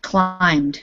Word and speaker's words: climbed: was we okay so this word is climb climbed with a i long eye sound climbed okay climbed good